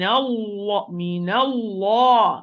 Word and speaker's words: الله: Min Allah, Allah, Allah.